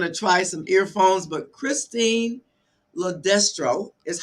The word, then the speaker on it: Christine LoDestro: And so Christine's going to try some earphones, but Christine LoDestro is how you pronounce her name.